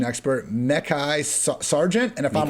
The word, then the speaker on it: Mekhi Sargent: And we also have, we got Dontrell Hilliard and Dwain, since you're now the resident pronunciation expert, Mekhi Sargent. And if I'm wrong on that, okay, there we go. Mekhi Sargent.